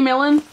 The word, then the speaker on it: Milan: say her name right milan melon courtney millen that's how you say it she's right there she's